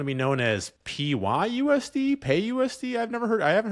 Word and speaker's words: PYUSD: it so the ACT it's p-y-u-s-d so what what are people calling this pay USD pay USD pay USD okay that makes sense um and pay USD